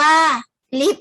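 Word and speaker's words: ลิฟต์: ควบ คุม ระยะ ไกล ลิบ อ่าน ว่า ลิฟท์ หมาย ถึง ห้อง เล็ก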